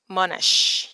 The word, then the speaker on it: Monash: I don't know is the stress on the first syllable or the second syllable. But yeah, sure, this is Monash. You got to use the sh sound.